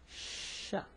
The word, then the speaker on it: ش: And it's called sha, you know? So the sh sound, not ch like the Spanish, no, it's sh, you know, sh.